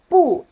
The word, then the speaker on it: 不: Normally bu is pronounced with the fourth tone.